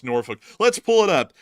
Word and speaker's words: Norfolk: I can't do the L so it is norfol it's not Nori I I don't know where Nori's coming from